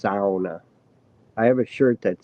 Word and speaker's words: sauna: It's not sauna. It's not sauna. It's sauna.